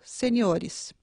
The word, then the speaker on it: seniores: Além do no plural ser acrescentado também ES, ocorre um deslocamento da sílaba tônica. Júnior, juniores, caráter, caracteres, sênior, seniores.